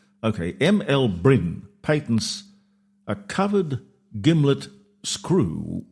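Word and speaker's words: Byrn: M L how would you pronounce that? B Y R N. B Y R Brin. Okay. ML Brin patents a covered gimlet screw with a tea handle, more popularly known as a corkcrew.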